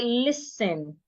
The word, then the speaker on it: listen: The letter T in that word should not be heard. It is silent. So we should not say listening. We say listen.